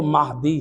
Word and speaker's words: مہدی: جو القابات ہیں، مہدی، بعض لوگ تلفظ کرتے ہیں بلاتے ہیں بچوں کو، جوانوں کو مہدی بلاتے ہیں، بعض لوگ بعض علاقوں میں مہندی بلا دیتے ہیں، تو صحیح لفظ جو ہے وہ مہدی ہے۔ مہدی یعنی جس ذات